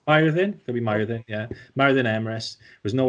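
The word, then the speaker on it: Myrddin: It's Myrdin. Myrdin. Myrdin. Could be Myrdin, yeah.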